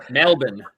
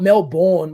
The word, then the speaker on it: Melbourne: like that number two it's Melbourne not Mel born like I don't know